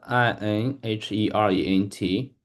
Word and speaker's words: inherent: pronounce this words and I n h e r e n t. Yeah, absolutely. So that word is pronounced inherent.